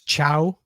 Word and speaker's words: Thiaw: Do you pronounce it Thiaw? Thiaw? It's Chow. Chow.